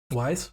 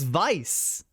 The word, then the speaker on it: Weiss: What did you say? Weiss? It's Vice. Vice. But even though it's a W. Even though it's a W, they say Vice. It's spelled they do say Vice.